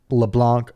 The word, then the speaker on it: LeBlanc: And you can follow Wes at LeBlanc Wes. It's LeBlanckwes. The C is silent, but when I say your Twitter name, I kind of say it unsilenced so people can spell it.